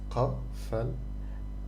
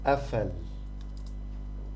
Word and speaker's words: قفل: if I'm reading it in standard Arabic. However, in Egypt we pronounce it a, like Hamza, like a in the beginning of a word. So it's afal. This is how I pronounce it in Egypt, and also in Levantine Arabic, in Syria, in Lebanon, it's the same rule.